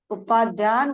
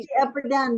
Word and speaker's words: अपध्यान: सदा चिंतन कर अर्थात उपाध्यान को छोड़कर अनंत तत्व और बहिस्तत्व का आश्रय ग्रहण कर। प्रश्न, ये उपाध्यान क्या है? उत्तर, द्वेष वंश की अपध्यान बोलो ना, गलत हो रहा pronunciation।